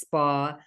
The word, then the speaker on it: Spahr: makes people stumble and it's pronounced Spa like the well-being Center or the shop oh how perfect amazing